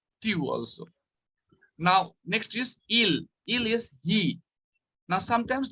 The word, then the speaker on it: ils: So most of the children, while pronouncing il pluriel, they say ils. So I just want to tell you, children, this is not, the pronunciation doesn't change. Il become il only, not ils.